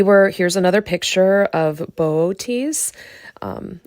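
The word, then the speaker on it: Boötes: And if we were here's another picture of Booties. Um I feel funny saying that word every time. Just not used to that pronunciation.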